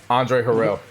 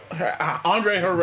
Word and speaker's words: Harrell: This was like Andre Harrell. Andre Harrell.